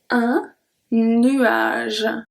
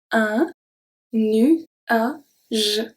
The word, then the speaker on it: nuage: So when we have G following by E or by E, it's going to turn into a soft G. Let's see 3 examples. Un nuage. Un nuage.